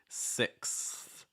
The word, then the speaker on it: sixth: and that's going to help with that transition because as soon as you go from next with that x you're then just going to raise it up a little bit for that th it's like see if you can make that combination sixth sixth okay after that we